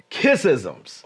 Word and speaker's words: Kissism: And the juicy part that I've been waiting to talk to my audience about is kissisms. Oh. Now, wait, did I pronounce it right? Kissism? You did. You did.